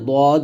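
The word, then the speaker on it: ض: এবং দদ আচ্ছা আচ্ছা দাল এবং দদের মারকাজটা দেখুন আমরা দাল দ শিখি দাল দাল হবে পাতলা দ হবে মোটা এবং দুইটা মারাজও আলাদা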